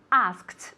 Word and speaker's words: asked: Es muy importante pronunciar el pasado de ask como si fuera A-S-K-T directamente, ¿ok?